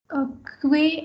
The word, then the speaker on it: que: So yo pienso que el libro es interesante. Yo pienso que. QU is K pronunciation. Okay, not que.